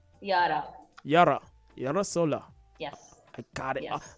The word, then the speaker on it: Yara: good afternoon and welcome to eurozola good afternoon euro did i get a pronunciation of your name correctly yara yara yarasola yes i got it almost got